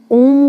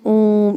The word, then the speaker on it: ओम: जिन वर्णों के उच्चारण में स्वर वर्ण की तुलना में कई गुना ज़्यादा समय लगे, जैसे कि हम ओम का उच्चारण करते हैं तो ओम इस तरह से बोलते हैं ना, तो इसमें ज़्यादा समय लग रहा है।